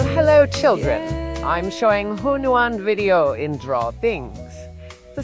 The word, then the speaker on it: Hunyuan: Now, Hunyuan video, it's three syllables, don't overthink it. Hunyuan, yes, that's how it's pronounced, I just have an accent.